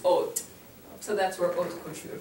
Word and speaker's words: haute: Now, when we're describing something, when this is used as an adjective, sometimes it'll be with an E at the end, and then it's pronounced haute.